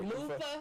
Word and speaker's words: loofah: That's how we say it, like Loofah? Loofah. With the F. Yeah. With the F. Loofah, not Luther. Loofah.